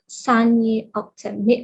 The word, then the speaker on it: Saniye Oktem: And Saniye Oktem, am I pronouncing it correctly?